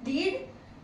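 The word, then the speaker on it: read: रीड मैंने कहा था ये एक ऐसा वर्ड है जिसका प्रोनंसिएशन खाली डिफरेंट है बाकी जो स्पेलिंग है वो सेम है रीड इसका सेकंड फॉर्म हो जाएगा रेड third form is also रेड clear री रीड रेड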